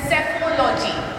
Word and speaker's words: psephology: Alright, okay, and from then till now, the study of polls and politics is known as psephology. Write down, P is silent here.